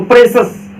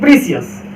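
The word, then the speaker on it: precious: ऐसा क्यों, क्योंकि देखिए सी के बाद क्या आया है, IOUS, तो ये वाला आ गया ना CIOUS, तो सी का उच्चारण क्या निकलेगा, स। तो ये क्या बन गया, सस। ये है प्रे, ये है सस, तो प्रेशस, कीमती। Time is प्रेशस, time is प्रेशस, ना कि टाइम इज प्रीसियस।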